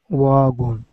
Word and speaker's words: one: that word like once almost like there was a w there great um Jack Drive won one more time Drive